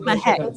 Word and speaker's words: Mahek: Okay, I'm Mahek. No, I'm not. I'm not. Mahek, that's how you pronounce it.